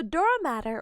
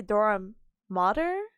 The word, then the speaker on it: dura mater: So dura matter, or I think they say dura mater, I think that's the pronunciation.